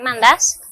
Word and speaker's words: Mantas: Me llamo Matas, en griego se pronuncia Mandás.